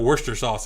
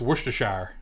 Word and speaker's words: Worcestershire: saying it wrong too it's not worcester sauce it's worcestershire it's a winchester sauce what